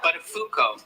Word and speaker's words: Buttafuoco: Matthew, I think you mispronounced that guy's name a few times. What? It's Joey Buttafuoco. No, it isn't, Matthew. It's Buttafuoco.